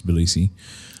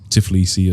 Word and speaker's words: Tbilisi: I just need, for some reason, it seems like a hard word for foreigners to pronounce, Tbilisi. Tbilisi. Yeah, so they often go towards some Tiflisi or Tbilisi, like it goes like that.